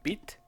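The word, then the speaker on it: Vite: So we're gonna use a minimal setup of byte or beat. I have a friend who said to me that beat was actually a French word, so it should be pronounced beat.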